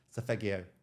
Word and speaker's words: Solfeggio: It's Solfeggio frequencies.